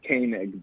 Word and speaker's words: Koenig: You know, actually, my family pronounces it Koenig, but Oh, crap.